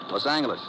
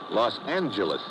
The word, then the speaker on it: Los Angeles: Los Angeles. Correction. Los Angeles. Oh, yeah. Soft G.